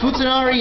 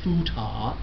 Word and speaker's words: futanari: androgyny or a hermaphrodite slang term is popularly known here in America as futa but the proper way to say it is like that let's practice here we